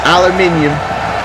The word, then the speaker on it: aluminium: It's aluminium.